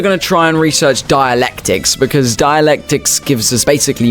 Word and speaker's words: dialectics: dialectics is done and apparently it's not dialects it's dialectics so we say it like that now let's Fair let's go